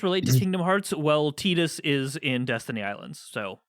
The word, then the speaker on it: Tidus: But they said Titus in Kingdom Hearts 2. And no one will ever let you forget it. I know. But that's the Japanese pronunciation.